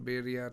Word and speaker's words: birria: We were trying to get some birria tacos.